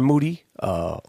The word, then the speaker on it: Moody: Moody. Last name, it rhymes with duty.